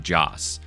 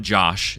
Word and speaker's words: Joss: But genuinely, that whole series could not exist without Joss. So everyone in the chat say, thank you, Joss. That's spelled J-O-S, not Josh. It's J-O-S.